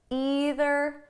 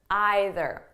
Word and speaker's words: either: want you know that the pronunciation is flexible so you can say neither neither either either okay there's no difference i might even change